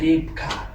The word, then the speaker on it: Rybka: k a and then the Y they pronounce it as a y and you have to pronounce it as an eye that's why rap car so now I don't